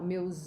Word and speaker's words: meus: No plural, meus olhos. And remember the pronunciation here, meus olhos, ok? Remember that you have U-S-O. So it becomes, the sound is Z.